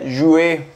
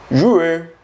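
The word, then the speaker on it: juin: El mes de junio se pronuncia jue. Jue, jue.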